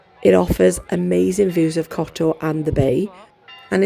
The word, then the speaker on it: Kotor: on the Bay of Couture and I don't think I pronounced that correctly I think it's cot anyway the city walls